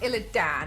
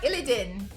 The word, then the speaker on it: Illidan: It's not pronounced Ilidan. It's spelled that way. Okay. It's more like illin. Illin Ilidin or Illinin.